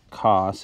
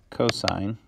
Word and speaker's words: cos: sign and then cost cos is not cost it is short for cosign which is pronounced co-sign and then tan that's